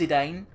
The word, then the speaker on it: Zidane: gonna call this guy's a Dane uh I know it's been out I think it's pronounced Zidane because as if there was a French footballer with the same name who was pronounced like that but it's just ingrained